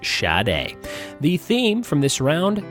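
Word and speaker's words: Sade: was shot a shad a si de but pronounced shad a the theme from this round if you guessed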